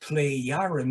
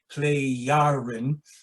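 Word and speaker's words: Plejaren: term so it's pronounced play yaren because the j is pronounced more like a y here as it is in some other languages play yarin and uh you find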